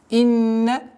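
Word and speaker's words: إِنَّ: Инна, четкого ясного произношения огласовки кесра. Инна, удержание, назализация в размере двух огласовок.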